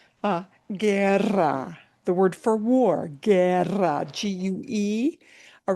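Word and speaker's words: guerra: Ger. Gu. All right. gu and gui the u goes silent. So a word like ger is not pronounced guer right.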